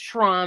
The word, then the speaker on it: Schramm: more movie I want to talk about is Shrum okay yeah have you so sh so I watched it a long time ago but I didn't I didn't get to go back and rewatch it it's pronounced Shrum but it's SC r a m m so